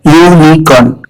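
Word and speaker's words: unicorn: यूनिकॉर्न का उच्चारण होता है यूनिकॉर्न, यानी ये यू साउंड से शुरू होता है, इसीलिए स्पेलिंग में भले ही यू हो, लेकिन साउंड कॉन्सोनेंट है, और हम यूज करते हैं ए।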